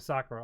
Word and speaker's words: Sakura: bit of the dub, and they do not pronounce Sakura right at all. Not a single one. Sakura. Her name is Sakura, Sakura.